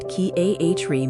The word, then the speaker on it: Chiari: Chiari Malformation, pronounced Chiari Malformation, is a condition where brain tissue extends into the spinal canal.